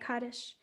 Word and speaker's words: Kaddish: You said it right, Kaddish.